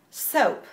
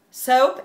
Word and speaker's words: soap: Y la pronunciación es soap. Soap. Con schwa, si es inglés más británico, o soap, o U, o española U. Soap sí es más estándar o inglés americano.